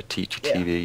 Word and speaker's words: Teachy TV: Yeah, Teachy, as in teacher, Teachy TV, yeah.